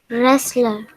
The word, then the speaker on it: wrestler: This is not a wrestler, this is a wrestler. W is silent. Wrestler.